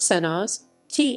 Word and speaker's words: Senožete: senosite krsko senozik pronounced sennas ti is a small settlement in the hills west